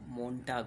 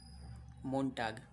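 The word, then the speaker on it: Montag: ये मोन्टाग का जो लास्ट का एजी है, टी ए जी है, इसका प्रोनाउंसिएशन आपको टाक कहीं कहीं सुनने को मिलेगा, वैसे टाग बोलते हैं। वैसे दोनों सही है, मोन्टाग और मोन्टाग।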